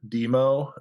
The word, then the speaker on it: Dëmoe: I think I would you would probably still pronounce it demo uh or or demo